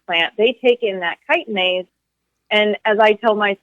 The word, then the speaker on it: chitinase: this enzyme called chitinase, which is spelled with a CH, like chitinase, but it's pronounced chitinase, for those who have not really seen that in writing anywhere.